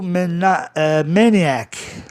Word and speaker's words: maniac: Maníaco, maniac. E maníaco, adjetivo, maniacal. São dois grupos diferentes. IAC no fim soa IAC, maniac, como zodíaco, zodiac.